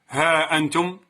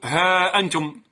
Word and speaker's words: ها أنتم: كلمة ها أنتم كتبت أيضا بشكل خاطئ. إذن تقول القاعدة أن هاء التنبيه متى دخلت على ضمير مبدوء بهمزة تحذف ألفها خطا وتثبت نطقا.